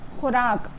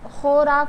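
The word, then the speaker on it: خوراک: ख आ जाता है तो उस सूरत में वाव को नहीं पढ़ा जाएगा लिखा जाएगा लेकिन पढ़ा नहीं जाएगा इसकी मिसाले कुछ है जो हिंदी वर्ड यहां पर लिखे हैं हम उसको उर्दू में लिखते हैं तो पहला है खुराक तो खुराक को इस तरह लिखा जाता है लेकिन इसको खोराक नहीं पढ़ा जाता खुराक पढ़ जाता है यानी वा उसमें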